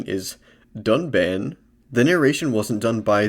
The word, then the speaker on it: Dunban: Or the stoic and inscrutable Duncan. Correct pronunciation is Dunban.